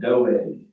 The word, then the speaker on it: Doeg: So, talking about a guy named Doeg, I think is how you say it. D-O-E-G.